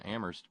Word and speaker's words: Amherst: If you now here this is fairly new out, courtesy of research at the University of Massachusetts in Amherst, where only the H is silent.